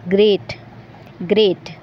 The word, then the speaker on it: GR8: GR8 को जब हम प्रोनाउंस करेंगे, जब हम इसको बोलेंगे, तो इसका साउंड निकलेगा ग्रेट ग्रेट, और ग्रेट का मतलब होता है बढ़िया बढ़िया या बहुत बढ़िया।